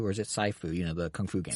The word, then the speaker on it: Sifu: And there is, I think it's pronounced Sifu, or is it Saifu? The Kung Fu game. Sifu.